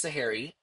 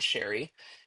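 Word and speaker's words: Sharry: Uh, S H A R R Y. That's how you pronounce her name. That's Sahari. not Sherry.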